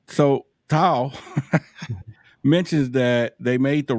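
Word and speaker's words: Thao: Tao.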